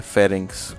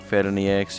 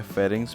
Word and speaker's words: pharynx: Okay, और इसको बोला जाता है फेरिंग्स। कुछ लोग उसको फेरनियक्स या कुछ और बोलेंगे, लेकिन प्रोनाउंस किया जाता है फेरिंग्स, PHARYNX।